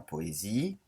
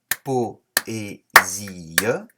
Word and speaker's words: poésie: Poésie, il y a 4 syllabes. Po-é-zi-e.